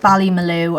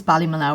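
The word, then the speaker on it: Ballymaloe: so here we've got i pronounce it valley malou i don't know if it's bali mallow or belly blue but i always say bali malu and it comes from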